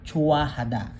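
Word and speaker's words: 좋아하다: Whenever heot no follows a vowel no it will be silent. So mawawala ang tunog niya whenever ah nasundan niya is a vowel.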